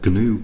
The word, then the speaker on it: GNU: The compiler that I'm going to be using for these tutorials is the GNU compiler. The G is actually pronounced in GNU, I believe.